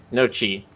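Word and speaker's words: gnocchi: or the naughty phase g-n-o-t-t-i that's pronounced no Chi thank you oh yeah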